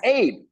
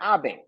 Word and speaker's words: Abe: of Abe it's pronounced Abe it's not Abbe we're not talking about the Japanese prime minister that was assassinated no we're talking about